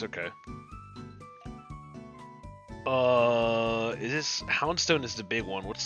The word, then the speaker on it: Houndstone: In Spanish, the H is silent at the beginning of most words. So this would be houndstone.